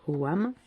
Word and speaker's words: ogham: donc ça s'écrit au gain mais ça se prononce au wam et en fait c'est l'alphabet celtes des arbres